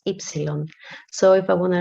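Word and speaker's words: έψιλον: is the epsilon um this is not a nu it's not a u it's an e it has a sound e and the name is epsilon so if i want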